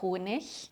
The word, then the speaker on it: Honig: like der Teppich, Ich, like der Honig, pronounced ich, so der Honig, and of course like der Lehrer.